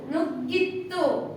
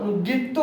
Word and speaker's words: ನುಗ್ಗಿತು: ನು ಗಿತ್ತು ನುಗ್ಗಿತು ನುಗ್ಗಿತ್ತು ನುಗ್ಗಿತ್ತು ಅಲ್ಲ ನುಗ್ಗಿತ್ತು ಅಂತ ಹೇಳಬೇಕಾದರೆ ತಕೊಂಬು ತ ಒತ್ತು ಇರಬೇಕು ಸೊ ಒತ್ತಕ್ಷರ ಇಲ್ಲ ಒತ್ತಿ ಉಚ್ಚಾರಣೆ ಮಾಡೋದು ಬೇಡ ಗೀ ಗೆ ಅಷ್ಟೇ ಗ ಒತ್ತಿರೋದು ಹಾಗಾಗಿ ಇದನ್ನ ಮಾತ್ರ ಒತ್ತಿ ಉಚ್ಚಾರಣೆ ಮಾಡಿ ನುಗ್ಗಿತು ಮುಂದಿನ ಪದದ ಮೊದಲನೇ ಅಕ್ಷರ